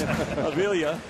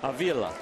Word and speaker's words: Avila: Avila. Okay, this is really hard because his grandfather goes by Avila. That's right. Avila. We got a different, same name, same family, different pronunciation.